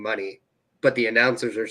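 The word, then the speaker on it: Moné: money money because yeah it depends if you read it how it's spelled if you read it how it's spelled it ain't right but Mercedes money is what she's gone for yeah no I just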